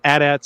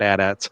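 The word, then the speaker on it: AT-AT: Uh, we see some addats at ATS, however you want to pronounce it. I've always said addats.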